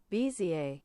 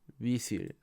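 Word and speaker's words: Bézier: ¿Cómo se pronuncia esto? Bezier. Bezier.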